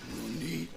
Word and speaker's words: nani: You don't say nanny, you say nani.